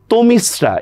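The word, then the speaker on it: তমিস্রা: এরপর দেখেন তমিসরা এই শব্দের উচ্চারণ কি? দেখেন অ ধ্বনির পরে রসয়ী হওয়ার কারণে অটা কিন্তু ওর মত হবে।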